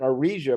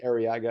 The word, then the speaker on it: Arriaga: And on September 30th, Scott Arriaga, although I think he pronounces it Arisia, but lets everybody else say Arriaga.